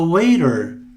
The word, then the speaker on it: waiter: Aqui temos um som de D, waiter. Para você praticar este T com um som de D, fale waiter com um D, devagar, e vá acelerando a fala. Veja, waiter, waiter, waiter, waiter, waiter, waiter. Ok? É um curtíssimo D.